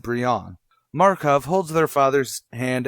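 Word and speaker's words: Brion: gregor and bree on it is spelled kind of Brian but every time I've seen it said it is said Brianna Markov holds their father's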